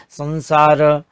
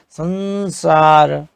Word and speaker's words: संसार: आपने देखा स श र ल, इसके पहले के वर्ण पर जो अनुस्वार लगता है उसका उच्चारण न की तरह होता है।